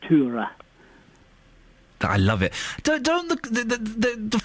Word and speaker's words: Tora: Her name, we would normally call her Tora Berger. Yes. But they would pronounce it Tura.